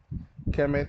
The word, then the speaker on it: Kemet: Kemet is the ancient Egyptian name for Egypt, pronounced Kemet.